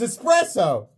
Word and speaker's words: espresso: It's espresso.